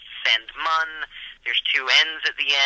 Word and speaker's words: Sandmann: it's a family name it's not spelled the way it sounds it's it's it's German it's technically pronounced sand mun there's two NS at